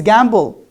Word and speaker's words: gamble: And you said if we have ba sound preceded by ma sound, then it becomes silent. And now here we pronounce it. What's the story? You forgot part of the story. And I told you, these are not at the end of the word. These are in the middle of the word.